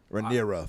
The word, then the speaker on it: Rhaenyra: Rhaenyra.